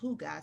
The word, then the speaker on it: hygge: Hygge is a Danish word, right? It's a concept. And according to Country Living magazine, it has no literal translation, right? And it's pronounced Hygge, spelled differently.